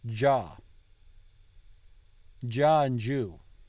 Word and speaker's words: già: Like già. So the G-I-A with the accent is pronounced ja.